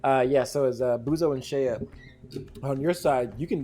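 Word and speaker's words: Sheay: Hold Shayla. on. Shayla. Hold on. I need to. Talking about me? Yeah, it's Shaya.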